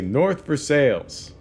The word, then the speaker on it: North Versailles: from a place called North Versailles now anybody else would say north of Versailles but in Pittsburgh they say North Versailles no fancy silent l's for us and I remember asking